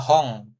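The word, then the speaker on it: ほん: Ada hong, buku ya kan, buku ini n doang kan belakangnya, hong tetap dibacanya seperti itu.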